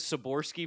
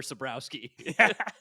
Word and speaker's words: Sabrowski: And then you just hit us with Saborski for Sabrowski.